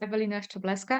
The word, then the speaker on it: Ewelina Szczeblewska: It is Ewelina Szczeblewska, and as you say, I am a trained clinical hypnotherapist and transformational coach.